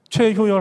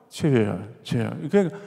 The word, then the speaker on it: 최효열: 만들었나 근데이 뜻만이 아니고요 일단 발음이 너무 어려운 거예요 최효열 한번 해보십시오 최애야 다들 이름을 이렇게 부르는 겁니다 발음을 명확하게 하기가 되게